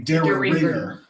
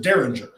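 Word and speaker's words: Dareringer: a dairy mirror so the bottle is spelled d-a-r-e-r-i-n-g-e-r which would be daryl ringer but adam from rabbit hole pronounced it derringer so yo no say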